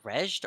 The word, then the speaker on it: Raid: Is that used pronounced raid or reged or? Raid Okay, Shadow so Legends.